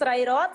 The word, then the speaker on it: Sreyroth: pronounce it very well that's right can you pronounce it uh my name nice ray rod so you can call me yes